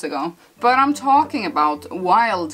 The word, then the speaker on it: Wylde: but I'm talking about wild flowers and it's spelled like a Wilde flowers and I do follow